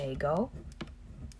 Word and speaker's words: ego: So the first person singular pronoun, remember the ego waffle. I is ego. it's not spelled the same way as an Eggo waffle, but whatever.